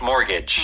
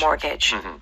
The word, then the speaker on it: mortgage: here is important though there's a t in the middle like you said but you do not pronounce the T the pronunciation no no the pronunciation is more Gage wow te is silent mortgage mortgage good okay so